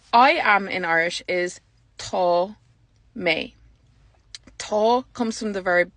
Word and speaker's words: tá mé: So the A fada makes the A long, so it gets an O sound, tá.